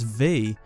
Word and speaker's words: V: to his brother's names his name is pronounced as the letter v as opposed to the Roman numeral for five which is different from his